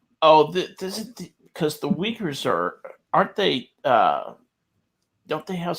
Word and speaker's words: Uyghur: They're called Uyghurs. Really? Uyghurs is how my anthropology professor used to pronounce it.